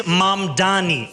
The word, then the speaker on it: Mamdani: And furthermore, the name is Mamdani, M-A-M-D-A-N-I. You should learn how to say it because we got to get it right.